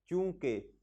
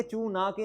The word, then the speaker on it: चूंकि: छोटे होते थे ना, चूंकि तो हम इसे पढ़ते थे चू ना के। अच्छा जी, हालांकि ये चू ना के नहीं है, चूंकि है, इसमें नून साइलेंट है।